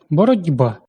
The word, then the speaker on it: боротьба: Боротьба. Глухий «ті», уподібнюючись до наступного дзвінкого «б», перетворюється на дзвінкий «ді».